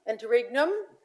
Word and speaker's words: Interregnum: Internum. Interregnum and this is what happens as we leave.